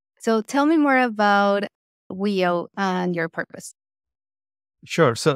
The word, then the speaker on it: Wio: First of all, how do you pronounce WIO? Is it Wio?